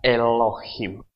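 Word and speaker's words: אלהים: mereka membacanya ini adalah kalau Alex itu adalah huruf diam jadi tidak dibuat tidak ada tidak bunyi itu huruf diam jadi dibaca adalah e-lo leucine beda jadi ini dibaca Elohim Jadi kalau enggak ada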